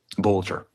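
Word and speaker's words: Vance Boelter: Vance Boatler. In case you're wondering if that's forged or fraudulent, here's the official documents of the Secretary of State of Minnesota. Here it is. Vance Bolcher. Bolcher.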